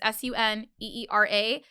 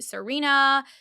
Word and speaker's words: Suneera: And even forget that, like even my name Suneera, it's very phonetically, like it's Suneera, but people still would call me Serena, everything in between, besides